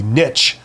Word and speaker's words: niche: A common way of doing the focus strategy would be not focusing on a particular niche, or as Americans say, niche, but you're focusing on a particular geographic region, right?